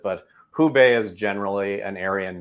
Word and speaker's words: Hubei: for us uh sure the way i pronounce it would be well who bae it's kind of the minnesota act you get a little bit extra but uh it'd be probably more tonal if you were to pronounce it but hubei is generally